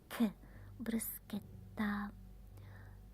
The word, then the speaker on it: bruschetta: Bruschetta. When you see C and H, it's like a K. Bruschetta.